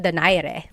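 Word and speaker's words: Donaire: So, our first poll here is going to be Mani Pacquiao versus Nonito Daire or is in in the Tagalog uh pronunciation. Nonito Dire.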